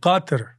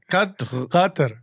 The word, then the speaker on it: Qatar: Qatar. Okay. You put a Try little it. Qatar.